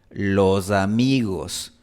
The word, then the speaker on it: los amigos: En la Sierra Ecuatoriana pronunciamos lo, za, mi, gos. Los amigos. Los amigos, pues.